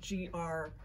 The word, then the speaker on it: greige: a gray good and it's not spelled like the color it's spelled g-r-e-i-g-e like greige but it's gray good so and quilting cottons